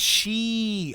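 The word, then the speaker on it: し: oh didn't know that oh it's pronounced she uh four also means she and nine is cou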